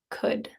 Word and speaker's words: could: This word has an L in it, but you don't really pronounce the L. It's just an sound. Could.